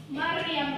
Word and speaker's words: Maryam: Jadi Maryam, jadi pelafalannya Maryam. Rohnya itu tebal ya, rohnya lebih jelas nampak.